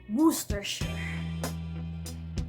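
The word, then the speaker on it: Worcestershire: He even taught me how to pronounce workers properly. It's actually worersher.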